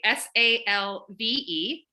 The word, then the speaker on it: salve: is save s-a-l-v-e um if if you're pronouncing it in ecclesiastical the classical pronunciation we saw away because all the v's turn into w's but i'll use salve because that's the more common what we're used to and ended up being